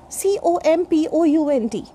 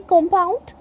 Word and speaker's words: compound: One more example we can take, COMPOUND. Some say compound and some other people say compound.